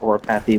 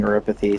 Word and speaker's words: Oripathy: significantly better medicine for oripathy or orathy, what however you like to pronounce it. I usually pronounce it oropathy, but the game keeps saying oripathy, so I've been saying it now as well.